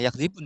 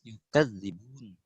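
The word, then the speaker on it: يُكَذِّبُونَ: Yakzibun ya? Iya. Itu ada farsul huruf. Farsul huruf untuk qalun bukan yakzibun tapi yukadzibun. Oh. Nah, Ustaz. Dia pakai tasdid.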